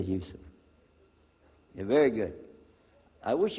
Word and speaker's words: Yusuf: Let me say Yusuf. Yeah, very good. I wish you'd teach my wife. She keeps mispronouncing it. She calls me useless.